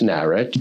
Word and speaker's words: Narrett: and he thought of the spelling Narrett like Barrett or Garrett, but I always joke, you could have been, how do you pronounce the name? It's somewhat arbitrary. It's Narrett, and I'm David Narrett, and that's fine with me.